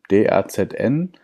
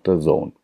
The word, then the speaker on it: DAZN: DAZN, D-A-Z-N, DAZN oft auch genannt, aber eigentlich DAZN ausgesprochen, ist ja so eine Art Netflix für Sport.